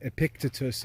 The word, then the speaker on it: Epictetus: called the golden sayings of epictetus or some pronounce his name epictitus in english you can look him